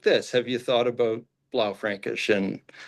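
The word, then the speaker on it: Blaufränkisch: So, blau Frankish.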